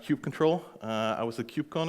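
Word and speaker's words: kubectl: to actually do that there's a tool called cube control and yes it's pronounced cube control I was a cube con a few weeks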